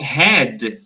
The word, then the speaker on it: had: The last letter, the letter D, is pronounced very weak. So we don't say had. I had a dog. No, I had a dog. The letter D is very, very weak. Okay, the sound of letter D.